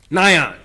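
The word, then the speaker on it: Nian: And that evil spirit that's trying to ward away, was the spirit of Nyan. It's spelled N-I-A-N. Nyan.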